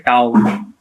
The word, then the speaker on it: tau: तो ये इसको बोलते हैं टाउ, टॉर्क बोलते टाउ प्रोनाउंसिएशन करते हैं, और इसका टाउ।